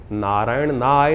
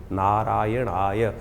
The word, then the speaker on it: नारायणाय: मंत्र का उच्चारण बिल्कुल सही होना चाहिए। कई बार लोग मंत्र का जप करते करते थोड़ी सी गलती कर देते हैं। नारय नारायणा नारायण नारायणाय नारायण नय नहीं है। नारायणाय ओम नमो नारायणाय इस